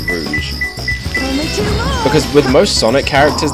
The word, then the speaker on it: Rouge: I love the people who say Rouge as Rogue.